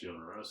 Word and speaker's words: Jodorowsky: Remember, it's Jodorowsky. Well, it's spelled with a J, right? Yeah. Yeah. Well, I just read shit. And then he's Mexican, so that Hispanic kind of the J Can I give him a becomes nickname?